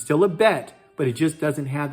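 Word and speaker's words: בית: is the bet okay the bet is pronunciated like in boy or uh broke or bail just the letter b but there's also another sound that goes along with it okay so there's two sounds shiny there's two sounds okay the second sound the chanee cold which is voice the second voice of it is one that's pronunciated with a v sound and something very soft like van or vo or vase and what's the difference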